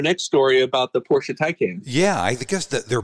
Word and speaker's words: Taycan: It was a year ago or so, I think, that there was a Taycan, I'm really not up on my EV pronunciation. I always want to call it Toucan, like Toucan Sam, but I know that.